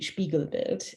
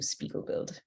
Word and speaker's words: Spiegelbild: the company's name is the German pronunciation would be spiegelberg uh the Canadian pronunciation is probably closer to Spiegel build everyone's accent everyone's intonation